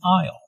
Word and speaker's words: aisle: does which task l'll notice the silent s in aisle an aisle is an orderly laying